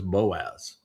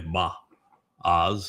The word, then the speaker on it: Boaz: shared, his name was Boaz. Uh, the proper pronunciation is probably Ba Oz or Ba O.